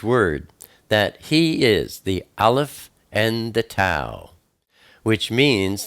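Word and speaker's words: alef: the first oat is Alf it is also the number one it is pronounced when you see it as a letter it's pronounced ah like AB or E like Elohim it's the picture of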